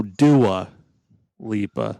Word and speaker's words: Dua Lipa: Dua Lipa. Dua Lipa. Okay. No, Dua Lipa.